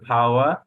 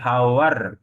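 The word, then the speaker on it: power: একইভাবে আমরা বলবো যেমন এই যে ফাওয়া, লাস্ট উচ্চারণ হলো আর থাকলে তার উচ্চারণ হয় না, তাহলে আমরা ফাওয়ার বলবো না, আমরা ফাওয়া বলবো, ঠিক আছে, ফাওয়া।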